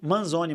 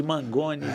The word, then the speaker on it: Manzoni: Thiago com H, THIAGO, Manzoni. Manzoni se escreve com N, M-A-N-Z-O-N-I. Que nome difícil, hein, deputado? No final. Cara, já me chamaram de Manzoni, de Mangoni, de tudo que é nome.